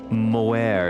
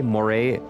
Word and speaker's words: moire: Moire, it's pronounced moray. Did I say moire? Moray.